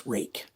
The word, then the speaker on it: Ruike: On this side, it just says Ruike. And yes, that is how you pronounce it, because they told me how it's pronounced.